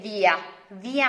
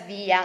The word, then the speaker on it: via: Like, you can still say via mare. It is written, it's spelled in the same way as in English, but we pronounce it as via, not via.